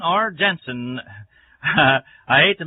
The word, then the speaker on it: Genson: and Auto Supply in Lockport, Illinois, and at Genson or Jensen. I hate to mispronounce anyone's last name, but it's spelled G-E-N-S-O-N, Jensen Hardware at Kankakee, Illinois.